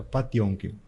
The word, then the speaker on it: Potemkin: Yo te recomendaría El acorazado Patiomkin, Potemkin. Potemkin. Me dijo Galia Jiménez que se pronuncia Patiomkin, así que yo me mantengo en eso.